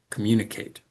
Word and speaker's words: communicate: word, the second and then the last syllable, communicate. And the comm and the I are weaker. we don't hear them as strong communicate. So those words uh the mune and the kate are pronounced more slowly with a higher pitch um and with a clearer vowel sound.